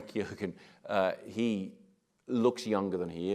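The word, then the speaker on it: Keoghan: same age and and Barry Keegan very key ogen so I've been mispronouncing his name for years now very key again he looks younger than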